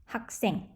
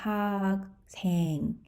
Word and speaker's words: 학생: You see 받아가자, 기억, and 시옷. It's actually pronounced as 학생, not 학생.